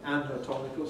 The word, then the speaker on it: anatomical: The second letter A in anatomy stands for an, but in anatomical stands for a schwa. What's going on? Well, clearly it depends upon the stress. When the syllable is stressed, we use a strong vowel. So in this case, a. When the syllable is unstressed, we use a weak vowel.